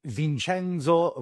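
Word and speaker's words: Vincenzo: new world uh so vinchenzo Valeri as they would pronounce in Italy uh Vince valer in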